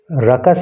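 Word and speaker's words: ruckus: इस वर्ड को याद कर लेना, और इसको रकस इसका प्रोनाउंसिएशन होता है, इसका मतलब होता है हंगामा या शोर शराबा।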